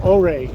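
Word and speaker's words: Ouray: n this that's it that's uray or they call oay in Utah oay in Colorado uray but they're spelled the same those houses up there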